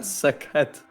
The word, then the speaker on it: Sekhet: Sekhet. It's like sick Yeah, head. SEK het. With an E as well.